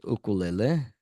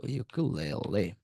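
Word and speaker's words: ukulele: Learning আমরা এখানে বললাম হচ্ছে উকুলেলে, ইউকুলেলে অ্যাকচুয়াল উচ্চারণ যদিও ইউকুলেলে, ধরেন এখানে আমরা বললাম হচ্ছে ডুইং।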